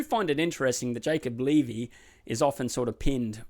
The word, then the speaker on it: Levy: Actually, it's Levy. I've been saying Levy, but I believe it's Levy is how it's pronounced over in England, so I'll now run with that pronunciation.